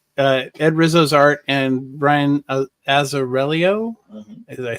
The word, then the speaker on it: Azzarello: I mean, the art, Ed Rizzo's art, and Brian Azzarello.